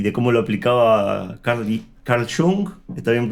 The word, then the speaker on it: Jung: de vista y de cómo lo aplicaba Carl Jung, está bien pronunciado, Jung, ¿verdad?